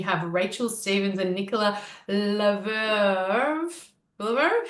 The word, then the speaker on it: Le Lievre: Well, of course, you beautiful ladies are from Cicadia, and we have Rachel Stevens and Nicola Leverve. Leverve? How do you say Very it? fancy. Lelive, like Livre.